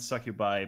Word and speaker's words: succubi: How do you pronounce it? Succubus singular and succubi plural.